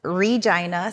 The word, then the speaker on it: Regina: Saskatchewan Canada and yes I said it right Regina Saskatchewan Canada and um It's a Small Town